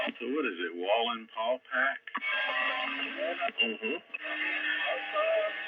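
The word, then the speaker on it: Wallenpaupack: Wallen paw pack. Mhm. How do you spell that?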